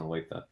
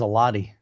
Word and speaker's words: Olathe: He says Alati. That's how I used to pronounce it, man. When you first told me Olathe, I could not. I was like, Olathe. You do it correct now.